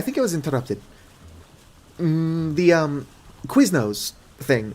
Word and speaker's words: Quiznos: The Quiznos thing, I just say because it rhymes with business, kind of.